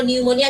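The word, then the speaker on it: pneumonia: তুমি ইংলিশে বলো নিউমোনিয়া, একটা পি আছে, আরে ভাই পিটা তো লাগানোর কি দরকার, বাট পি ইজ দেয়ার।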